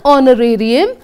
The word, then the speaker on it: honorarium: an honorable man an honorarium and h now look at that you'll know very easily you will find out that we have to say an R because H is silent honourable again H is